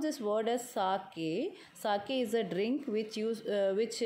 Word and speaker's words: sake: So sake, so you'll pronounce this word as sake.